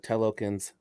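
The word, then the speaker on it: Talokan: the wakandans and the telokins telokin is how you pronounce it um this is one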